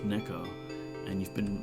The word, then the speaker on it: neko: that actually the Japanese word for cat is pronounced Neko and you've been mispronouncing your own username wrong